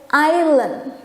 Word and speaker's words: island: Pulau punya huruf yang silent letter. Silent itu sunyi. Jadi hurufnya ada tapi tidak kita sebutkan. Jadi kita bacanya sebagai island. Karena huruf S itu silent letter.